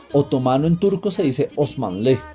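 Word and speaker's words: Osmanlı: por el nombre otomano en turco se dice osman ley y es una especie de gentilicio así como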